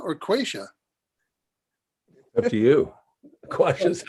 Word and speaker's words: Quasha: Quasha is how I pronounce it, but who knows?